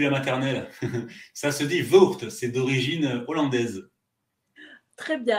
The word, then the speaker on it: Voogd: j'ai toujours du mal quand je vois votre nom, je ne sais pas comment le prononcer. C'est mon souci depuis la maternelle. Ça se dit Voogd, c'est d'origine hollandaise.